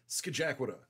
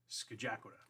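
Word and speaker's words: Scajaquada: You were a visitor if you looked at that and mispronounced it. That is the Skajakwata. Skajakwata.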